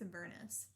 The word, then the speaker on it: Avernus: Yeah, so we need to figure out I think it's Avernus. Oh, the names? That's what they say. That's hell. That's the first level of hell. Yeah, I know, but that's what... That's what? What? That's how they say it in the official D&D videos.